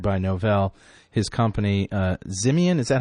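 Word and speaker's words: Ximian: has been hired by no his company uh zimon is that how you pronounce it yes and by the way correction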